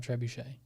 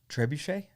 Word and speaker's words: trebuchet: like yeah that'd be cool to have a trebuchet yeah trebuchet it's trebuchet trebuchet it's an e not an